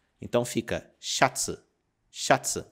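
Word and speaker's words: シャツ: palavra que significa camisa ela é dita xats chats e ela é derivada do inglês shirt ela tem a letra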